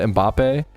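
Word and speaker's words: Mbappé: Is that how you say it? Am I butchering that? Mbappe? Like, what a fucking sick name. Was brought up. No, you're perfect, Jack.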